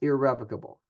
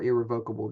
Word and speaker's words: irrevocable: It's irrevocable or irrevocable, depending on how you pronounce that.